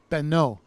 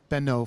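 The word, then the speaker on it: בנו: If it were his son, it would be beno, no yod, and the vav suffix would be pronounced o, beno, for his son.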